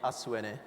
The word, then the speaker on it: ASUENE: to pronounce that also so ASU in Japanese means tomorrow it is also a Japanese pronunciation of Earth which is said as ASU and na being the short form of energy what ASU is envisioned